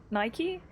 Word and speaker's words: Nike: The British way to say it is how it should be, but Nike is how it's said because it's an American company. So it's an American company, so it's Nike?